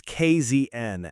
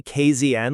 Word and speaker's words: KZN: For our global listeners, that acronym is KZN, and because this initiative is fiercely, unapologetically South African in its DNA, you pronounce it with a proud, definitive Z. Oh, absolutely. If you say KZN like some American sitcom,